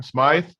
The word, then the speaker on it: Smythe: This Smithy, or whatever you say his name, Smythe.